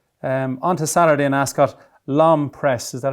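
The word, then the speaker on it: L'Homme Presse: On to Saturday in Ascot, Lom Press, is that how you pronounce it?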